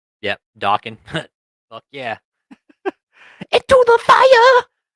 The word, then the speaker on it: Dokken: That's David's theme song is Dream Warriors from Dawkin or Dokken. I think that's how you say it, Dokken.